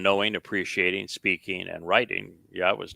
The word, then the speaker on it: Yahweh: And it's, not difficult to know how to pronounce Yahweh's name. It's the Yah and the Ah are from the verb haya, and the O sound comes from Torah.